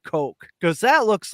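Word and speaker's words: Koch: that's how you know they have money it's pronounced Coke because that looks like when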